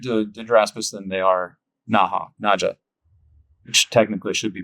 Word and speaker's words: Naja: Number one, they're not in the genus Naha naja. I need I prefer naja, but that's technically not the way it's supposed to be pronounced.